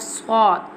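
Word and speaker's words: ص: Now I'm telling the pronunciation of swad. Swad pronounced from the tip of the tongue touching the inner edge of the top two and bottom two front teeth like this.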